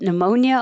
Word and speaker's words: pneumonia: He caught pneumonia over the winter. He caught, hold that T, pneumonia over the winter. So, yeah, whenever you see the P in combination in English, we don't say the P.